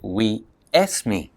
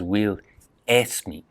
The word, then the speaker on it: Will Smith: Because in Spanish, you can't begin a word with S and a consonant. We say school, but in Spanish it's escuela. Spain is España. Spanish is español. So Will Smith is Will Esme, or we esme.